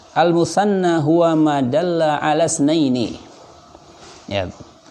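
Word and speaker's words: اثنين: Al-musanna huwa ma dalla ala isnaini. Ya. Untuk isnain itu hamzahnya hamzah wasal, sehingga ketika di tengah kalimat hamzahnya tidak terbaca, sehingga bacanya ala isnaini, bukan ala isnaini, bukan.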